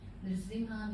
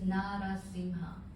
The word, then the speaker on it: Nrsimha: Nrsimha means half lion, half man form. Nrsimha. So please try to pronounce this word. It's a little challenging. Nrsimha. Nrsimha. Nrsimha. Nrsimha. Because another name is Narasimha.